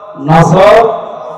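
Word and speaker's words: نصر: এজন্য তেলাওয়াত যখন করবেন উচ্চারণটা মুখ গোল করা লাগে আল্লাহ পাক জানিয়েছেন যখন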